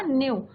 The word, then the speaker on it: knew: अगर न्यू means यहाँ पे क्या है, second form of the verb है नो का, न्यू। के साइलेंट रहता है बच्चों, KNEW।